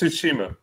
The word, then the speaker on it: Tsushima: that word how do you say it Joseph's Tsushima Tsushima there we go tsukumo shushing okay all